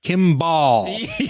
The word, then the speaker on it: Kimball: Like I say it Kimball, like almost like it's spelled BLE, but he was like Kimball. Like that ball part. That was his favorite part of my name.